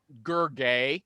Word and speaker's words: Gergely: during the show uh the l is silent yeah it's yeah the ellis silence let me spell it for you michael g cox hold on your horses g-e-r-g-e-l-y that's his gurgao okay if that's easy